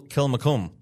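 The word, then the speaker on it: Kilmacolm: Uh, you try and pronounce the last part for me. S Columbus school. Kil Mcome.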